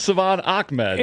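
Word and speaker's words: Salvon Ahmed: Because Ruthie Pollinsky, who used to cover the Dolphins, made sure I had the right pronunciation because it doesn't look like Savon Akmed, but it is Savon Akmed.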